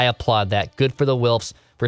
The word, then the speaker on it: Wilfs: doesn't it feel good to say that wilfs wills wills wilfs w-i-l-f i'm still pushing for wills a package